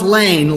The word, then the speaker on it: Laehn: Pronounced Lane like LE. Okay, I got that. Dr. Thomas Lane from the great state of Iowa.